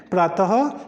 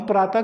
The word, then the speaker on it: प्रातः: प्रातः पढ़ते हैं हम प्रात कई बार जो बच्चे हैं जो आजकल पढ़ते हैं वो प्रात पढ़ लेते हैं प्रात नहीं होता है वो हमारे पास गलत उच्चारण हो जाता है प्रातः होता है और अतः कई जगह